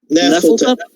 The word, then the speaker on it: Nyarlathotep: Nyarlathotep.